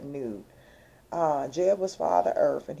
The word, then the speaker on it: Nut: That's another twin soul pairing where it was Father Earth, which was Jeb, G-E-B, and then Newt, spelled like nut, but Newt.